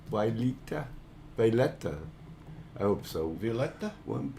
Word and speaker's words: Violeta: me forever am i pronouncing your name correct why lita i hope so violeta one piece of yeah b-i-o-l e-t-a violetta that's a beautiful name i love it all